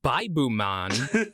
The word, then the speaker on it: Vibe Man: which is pronounced as Baibu Man, which sounds like Bible Man.